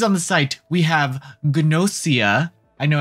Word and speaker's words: Gnosia: the site we have gnosia i know everyone's saying that pronounce nosha is it nosha no full gnosia and i said ganosha in my review but that's because i'm gaijin dude i'm just a